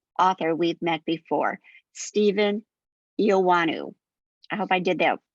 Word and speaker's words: Eoannou: There is no W in the name, I'm just saying, but it is pronounced as if there were.